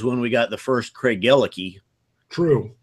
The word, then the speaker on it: Craigellachie: Probably the biggest one, though, was when we got the first Craig Gellicky. True. And I would have wanted to pronounce it Craigellachie. Right. Craigellachie. Right. Would be the American pronunciation.